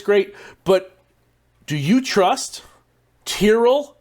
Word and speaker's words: Tyrrell: but do you trust Tyrrell Hatton not Terrell Tyrell Hatton anyone who pronounces his name like that I don't trust sepstraka